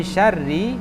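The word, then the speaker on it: شر: Qul a'udzu qul falaq qul a'udzu falaq min syarri ma khalaq wa min syarri, rinya tidak dipanjangkan, tadi itu terpanjangkan.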